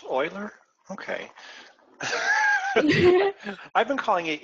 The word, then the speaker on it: Euler: range of problems so is that how that's pronounced Oiler okay I've been calling it Euler for a while but is it it's Oiler